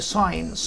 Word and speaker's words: sign: عندي حبايبي كلمة لغاية هنا يعني sign، sign يعني علامة أو إشارة، في حالة إذا كانت علامة أو إشارة فهي الجي بتبقى ايه؟